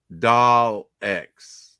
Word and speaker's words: Daleks: pronounced Daleks. Yeah. Not Daleks. Daleks. Yeah. Daleks. It's pronounced Daleks. There's no R in it.